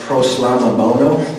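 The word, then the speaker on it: προσλαμβάνω: And that word accept, in the Greek, it's pronounced proslamabono.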